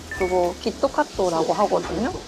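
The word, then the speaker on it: キットカット: In Japanese, it’s pronounced “Kitto Katto.”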